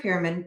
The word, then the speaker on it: Fureman: dysfunction in episodic neurological disorders please welcome dr fehrman and i hope i'm pronouncing your name right now you are anne